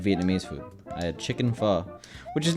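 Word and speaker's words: phở: I had chicken pho, which is not as good as regular pho, I'll be honest, but it's still pho.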